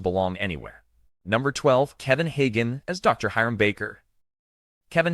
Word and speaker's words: Kevin Hagen: Kevin Hagen, pronounced KV in Hagun, was born on April 3rd, 1928 in Chicago, Illinois.